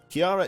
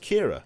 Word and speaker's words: Kiara: which is pretty cool kiara is pronounced kira oh is it kira i thought it was called kiara fair enough uh happy to